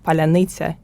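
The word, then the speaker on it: паляниця: So if you are Russian speaking, you cannot pronounce the word palanitsa in correct way. They try to Google translate it, and we have the word polunitsa in Ukrainian, which is strawberry, not a bread.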